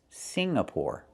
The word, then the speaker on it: Singapore: It's not Singapore. It's Singapore. The NG makes a sound M in your nose. Sing like when you sing a song together. Singapore. Not Singapore, but Singapore.